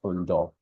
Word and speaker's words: Unu: is my first name unu is my my last name um I'm calling unu because I know that's how a lot of you will pronounce it it's pronounced Uno all right so you see